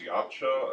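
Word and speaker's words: Yautja: of the predator race I believe it's pronounced yacht show it could be wrong on that because like they're from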